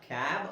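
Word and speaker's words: cab: ನಾನು ಹೇಳಿದ್ನಲ್ಲ ವ್ಯತ್ಯಾಸ ಇಷ್ಟೇ ಇದು ಸಿಎಬಿ ಅಂತ ನಮಗೆ ಅನ್ಸುತ್ತೆ ಆದರೆ ಇದು ಸಿಎಬಿ ಅಲ್ಲ ಕ್ಯಾಬ್ ಅಂತ ಓದಬೇಕು ಹೇಗೆ ಇಲ್ಲಿ ಸ ಅಂತ ಉಚ್ಚಾರಣೆ ಕಾಣಿಸುತ್ತೆ ನಮಗೆ ಇಲ್ಲಿ ಕ್ಯಾನ್ ಅಂತ ಬರ್ತಾ ಇದೆ.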